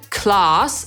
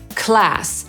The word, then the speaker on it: class: Brytyjczyk powie /klɑːs/, a Amerykanin /klæs/.